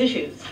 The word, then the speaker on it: issues: issue는 여기서는 she 발음이죠.